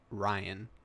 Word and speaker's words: Rian: out that it's actually Ryan, pronounced the same way like everyone else spells it, unfortunately, with a R-Y-A-N, never R-I.